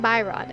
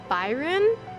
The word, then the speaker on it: Byron: I asked Tyler how to pronounce this guy's name, because I kept saying Byron, and I'm pretty sure that sounds completely wrong. So he said it's Byron? So, there we go, Byron.